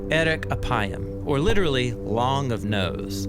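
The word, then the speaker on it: ארך אפים: In Hebrew, the phrase slow to anger is pronounced eric apayam or literally long of nose.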